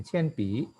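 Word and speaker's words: 铅笔: Kalau nada 3 yang paling belakang itu kita harus bacanya penuh. Tadi kebetulan ini pi, nada ketiga kan, maka dia harus baca penuh. Pi, qian pi, nggak seperti tadi ini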